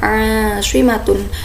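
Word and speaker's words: عاصمة: Cara membacanya itu ain dalam panjang, Ashimatun, ibu kota.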